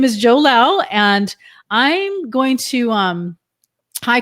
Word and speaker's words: Lau: I'm Joe Lau. My last name is pronounced just like how I talk, really loud.